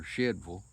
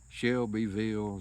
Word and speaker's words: Shelbyville: Anyway, you got Shelbyville, Tennessee, or Shedville, according to who it is you talk to, how they pronounce it. Could be Shovel, Shedville, Shelbyville is how it's pronounced, spelt, and all.